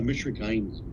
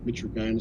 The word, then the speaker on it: mitragynine: There's, for me in the medical field, G and Y together, the G is hard, so I'm going to call it mitragynine species.